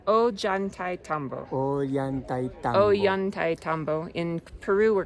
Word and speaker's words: Ollantaytombo: Well, we are here in Ollantaytombo site, located in the town of Ollantaytombo, and